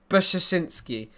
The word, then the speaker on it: Brzezinski: Zbigniew Brzezinski would be the closest to how we pronounce it. Brzezinski.